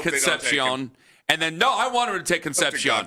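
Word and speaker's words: Concepcion: because I had I I was saying it like Dave Conpion and then plenty of people going, "No, Ken, it's Conception."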